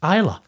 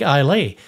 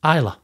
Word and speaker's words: Islay: this episode that the island's name is correctly pronounced Islay. It's spelled Islay, so it looks like Islay, but it's correctly pronounced Islay, which is pretty cool because my middle daughter's